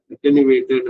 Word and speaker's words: attenuate: இது வந்து அட்டெனுவேட்டட் அப்படிங்கும்போது இந்த இலையெல்லாம் முனை கூர்ந்து, அது கூட அது வந்து பாசிட்டிவ் நெகட்டிவ், அது இயல்பான ஒரு விஷயம். இதோட ஸ்பெல்லிங் பாருங்க, அட்டெனுவேட். ஓகே, அட்டெனுவேட்ங்கிறது அது உச்சரிப்பு, ஞாபகம் வச்சுக்கோங்க. இப்போ அட்டெனுவேட்டட் ஃபிகர், அப்ப அது